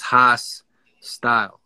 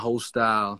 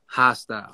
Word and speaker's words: Hastyle: So it's like, you know, my name is Hastyle. You know what I'm saying? It's not Hastyle. It's not Hostyle. Nah. Hastyle.